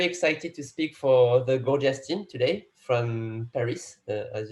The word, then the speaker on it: Gorgias: Exactly, because there are maybe, I would say 100 pronunciation for Gorgias, but yes, some people say gorgeous. What is totally okay.